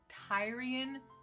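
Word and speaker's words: Tyrian: meant to replicate the i believe is actually pronounced tyrion purple is i should have figured that out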